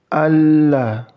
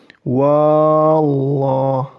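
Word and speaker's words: الله: Jadi untuk huruf alif ini diabaikan. Langsung masuk ke lam tasydid. Jadi bukan begini cara membacanya. Wallah. Bukan gitu ya.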